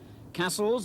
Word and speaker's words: Cassells: and their successful run in the fa cup castles and that is how it's pronounced has already scored 20 goals this season